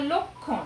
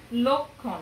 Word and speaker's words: লক্ষণ: ক্ষয় ওকার দক্ষ আবার লক্ষণ এখানে খ খেয় উচ্চারিত হচ্ছে কিরকম ক যোগ খ লক্ষণ লয়ের অটি ও এর